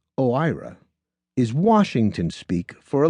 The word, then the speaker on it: OIRA: O I A pronounced OIRA is Washington speak for a little office with a big impact.